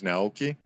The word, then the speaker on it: Naoki: I guess the proper way to pronounce it is Naoki.